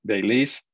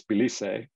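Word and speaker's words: Belize: the of the map and we'll go to bailey's uh pronounced either baileys or baileys but in spanish it's bilise and so that's my most common pronunciation for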